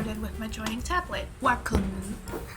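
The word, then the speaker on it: Wacom: Wakamu. I just want to say that brand name in Japanese because I made the effort to look up its pronunciation. On for a vote. Wakomu.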